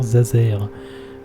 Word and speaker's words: Zazer: Nigel n'arrête pas d'écorcher mon nom, je suis sûr qu'il le fait exprès, ça se prononce professeur Zazer. Comme un laser avec un Z, c'est compliqué que ça.